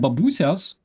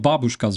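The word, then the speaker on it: бабуся: And Ukrainian babusias, not babushkas, babusias, that is the proper pronunciation.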